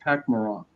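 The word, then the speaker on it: Pak'ma'ra: it's actually pronounced Pakmara.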